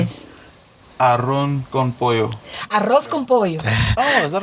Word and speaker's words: arroz con pollo: I don't know if, again, help me with the pronunciation. Yes. Arroz con pollo. Arroz con pollo.